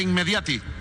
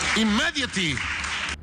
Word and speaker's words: immediately: Donald Trump, hands up Venezuela, de inmediati. No se dice inmediati, pues. Immediately.